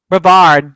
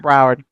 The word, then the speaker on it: Brevard: Brevard, not Broward.